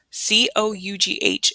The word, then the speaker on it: cough: K, off, like almost like when you're saying this word, cough. C-O-U-G-H is cough.